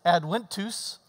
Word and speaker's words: Adventus: which in Latin, it's Adventus, because the V's are pronounced W.